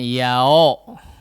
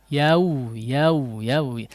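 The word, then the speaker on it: يوم: Ya, sekali lagi bukan yao. Bukan yao juga ya. Yau.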